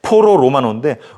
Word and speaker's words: 포로 로마노: 꼭 봐야 돼 그 포로 로마노 발음 잘해야 됩니다 이게 가끔 이상한 야한 그런 발음이 되기도 하는데 포로 로마노인데 로마에 가면은 그 중심지에 지금